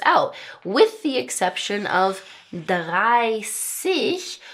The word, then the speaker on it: dreißig: with the exception of dreißig, which has the ß that makes an S sound, all the rest of these numbers are ending with 'zig'.